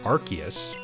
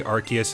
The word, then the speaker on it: Arceus: them darkrai shaymin and arceus or rcs rks however you want to pronounce that it has been misspoken throughout all the years so i'm just go i'm just going to say arceus and if you have any